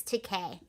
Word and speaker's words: Takei: Okay, pretty sure it's Takei.